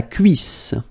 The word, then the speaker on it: cuisse: La cuisse. La cuisse. Double S and then two vowels before and after. It will give you a really strong S sound, okay?